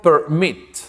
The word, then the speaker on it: permit: Porque la mayor fuerza de voz está al final.